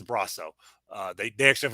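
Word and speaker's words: Brosseau: me neither but uh according to baseball reference it is braso uh they they actually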